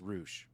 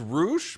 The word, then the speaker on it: Rush: I should be apologize I think his name is pronounced roosh but yeah I was about to say I I thought it was Rouge but you kept saying rush and I was like